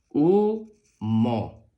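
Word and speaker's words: humo: la u suena u Recuerda que la H es muda la H con la u u la m con la o suena mo u mo umo muy bien la siguiente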